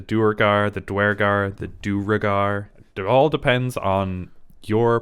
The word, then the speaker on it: Duergar: sorry buddy but uh so duragar is actually from Norse but the the U is a v but they do pronounce it the same way so it's durgard durgar whatever they even they pronounce it differently in different areas and stuff so that